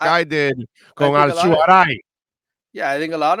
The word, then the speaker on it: Alzugaray: So what is the pronunciation? The real, like, really, mine is that Alzugaray. But I Americanized it to make it easy for people because they struggle so much with my name.